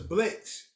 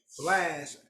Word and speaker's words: BLXST: They said Blast, and that's when I learned it was Blast. But I always thought it was Blitz, like Blitz.